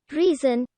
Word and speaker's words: reason: his hardiness taketh displeasure reason is apparently pronounced like the modern reason not like the chaucerian resound though no doubt wyatt